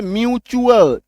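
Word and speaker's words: mutual: यू एल एक्चुअल एम यू टी यू एल म्यूचुअल च पी यू एन सी टी यू एल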